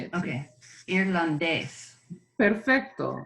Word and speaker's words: irlandés: Take a look at the word for Irish and try to pronounce that again with the emphasis on where the accent is. Irlandés. One more time, because you're emphasizing the ah. Okay. You're emphasizing the ah. Try to emphasize the ending.